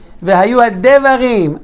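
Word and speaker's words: והיו הדברים: And nobody said it right. Vehayu? No. Ma? No. Adevarim, toda Rabbi. Vehayu adevarim. Under the dalet is shivana.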